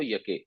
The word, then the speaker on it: یکی: اجم را شنیدم، تو لکھا یہ یکی ہوتا ہے اور پڑھتے ہیں اس کو یکے، یہ جو ہے نا یہ فارسی کا وہ ہے تلفظ.